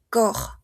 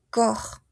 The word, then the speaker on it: corps: en su singular y no vamos a pronunciar la ps corps corps les parties du corps